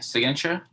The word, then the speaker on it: signature: Pronunciation here, signature. Signature. However, Sign. Sign. sign. So this is why it can get confusing. This is sign, but this is signature.